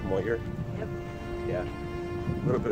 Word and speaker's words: Moher: It's spelled Moher, but it's pronounced Moher.